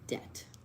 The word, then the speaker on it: debt: D E uh B as in boy A T debt silent B wagos is 47 across